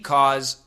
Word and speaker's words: cause: very strong cost C CA u e is actually a z sound cause cause and the